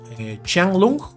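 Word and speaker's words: Qianlong: bastante interesante se trata de ch chang long chang lung sería como se pronunciaría correctamente chuu shang lung shu Pero bueno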